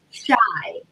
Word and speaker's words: Shai: His name is Shy, spelled Shai, kind of different.